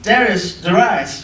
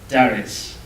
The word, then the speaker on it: Darius: Then the king Darius, however you want to pronounce it. My British roots say Darius. North America seems to want to say Darius when I've listened to it.